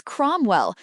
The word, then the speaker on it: Cromwell: Question two answer is Cromwell. Note ow sounds o.